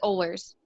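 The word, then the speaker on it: Oehlers: good now yeah it's my last name is ollers how do you spell that it's o e h l e r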